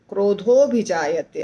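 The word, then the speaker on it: क्रोधोऽभिजायते: आधा आधा होता है अभि जायते क्रोध हो क्रोध हो भी जायते ऐसे बोला जाता है कामात क्रोध हो भ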